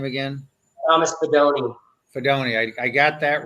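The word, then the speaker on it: Fidone: Fedoni.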